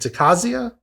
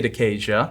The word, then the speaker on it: Decasia: the cause is it decazia i've heard it pronounced both ways i say decaysia decays because it deals with decay okay and so so